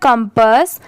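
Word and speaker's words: compass: डी ओल्ड ये है कंपास सी ओ एम पी A double S इसे हम पढ़ेंगे कंपास यहां पर इसकी प्रोनंसिएशन कंपाउंड पास नहीं होगा। इसे हम क्या प्रोनाउंस करेंगे? कंपस एस एच ई शी यह है टिप टोड।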